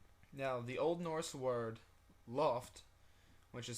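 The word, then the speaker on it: lopt: or be mistaken now the Old Norse word Loft which is spelled l o PT but the Old Norse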